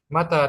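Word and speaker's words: متى: Mimnya pendek, taknya panjang. Karena kalau mimnya panjang, artinya meninggal atau mati.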